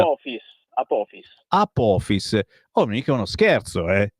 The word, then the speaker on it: Apophis: il titolo della tua canzone, Apophis, come si pronuncia? Apophis.